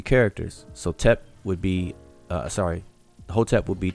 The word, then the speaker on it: Hotep: So this is a triliteral, and it will be transliterated as a capital H, T, and P. So we pronounce that as Hotep.